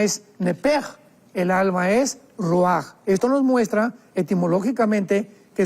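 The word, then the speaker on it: ruach: parte espiritual que es la palabra roach, que se pronuncia roaj.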